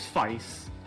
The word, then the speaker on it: Feist: I've been told at least that the pronunciation is Feist.